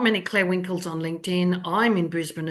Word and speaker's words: Clare Winkel: There's not many Clare Winkels on LinkedIn. I'm in Brisbane, Australia, and my name is spelled CLAREWINKEL.